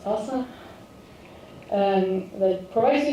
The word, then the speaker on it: SLSA: There's also existing security frameworks that are good to follow such as SLSA or it's pronounced TASA um that provides you